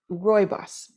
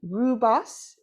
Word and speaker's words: rooibos: in with us so let's look at royos now that's the way I say it rubos is sometimes how it's said the important part about